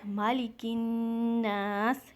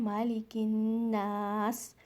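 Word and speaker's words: مَلِكِ النَّاسِ: Next आयत मालिकिन्नास, यहाँ पर फिर से हमज़तुल वसल मीन्स साइलेंट अलिफ, ये अलिफ नहीं पढ़ा जाएगा, काफ को आपने नून में मिलाना है। मालिकिन गुन्ना के साथ, नून मुशद्दद मीन्स यहाँ पर आपने गुन्ना करना है, मालिकिन्नास।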